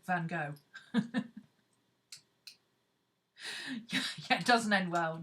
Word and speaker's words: Van Gogh: Because she said the nearest English word to it is ugh. So if you combine hook and ugh, you get Van Gogh. This is why English say Van Gogh.